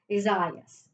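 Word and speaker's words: Isaias: portuguese spanish word and it looks like the the consensus says it's isaiah's so isaiah's is out there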